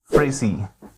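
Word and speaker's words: Phrasee: Another way to use AI for your ad creative optimization is to use AI-powered platform such as Frasee. I'm going to spell it P-H-R-A-S-E-E.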